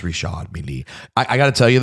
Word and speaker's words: Richard Mille: Yeah, because a lot of people say Richard Mille, and that ain't right. Richard. No, it's Richard Mille.